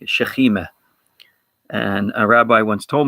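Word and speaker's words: שכינה: As an example, sakina is also it's a word that's also used in Hebrew. It's just slightly pronounced slightly differently, shechima.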